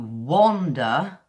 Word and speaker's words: wander: at the beginning but when you wander and walk it's kind of a it's a earth as opposed to a all see the off the mouth shape is kind of round and it's different for the air so it's wonder where you're wondering about something and wander where you're going for a short walk now this sound kind